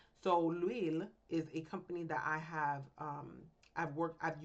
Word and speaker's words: L'Huile: To make the points clearer, we've created a fake company called L'Huile, pronounced L'Huile. The H is silent and it sounds like we.